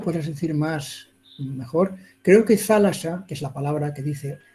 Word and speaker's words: θάλασσα: Antes era zálata, en vez de thalassa, de S, era ta, y se decía, se pronunciaba zálata. Pero hoy en día es thalassa, es una palabra muy bonita que ayuda mucho.